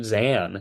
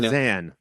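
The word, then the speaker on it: Zahn: trash my boy Steve xan and Diary of a wmy kid because it's not how it's pronounced it's Steve Zan please do it correctly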